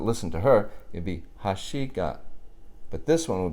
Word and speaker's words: 箸: high and everything else is low after that Hoshi and with the protocol Haas you got a